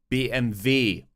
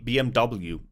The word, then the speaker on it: BMW: gets twisted sometimes Volkswagen BMV see it's not BMW it's b b and v um same with the